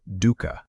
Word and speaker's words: dukkha: That word, dukkha, say it like dukkha, is usually translated into English as suffering.